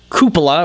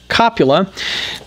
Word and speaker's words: cupola: Moving our way to the tank commander's cupola, or as I most notably incorrectly pronounce it as copula, the copula that you